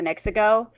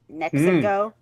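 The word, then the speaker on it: NexiGo: My favorite one is the one that I'm using, the Nexico. Nexico. Uh it gives me the sounds like Mexico but Mexico, right? So, like it's almost spelled the same way, too.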